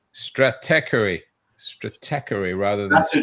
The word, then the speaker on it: Stratechery: Steve Gilmore has trouble with it as well, but it's Stratechery.